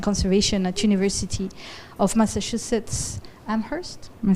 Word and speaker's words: Amherst: So happy to welcome Curt Griffin, who's a professor of wildlife ecology and conservation at University of Massachusetts Amherst.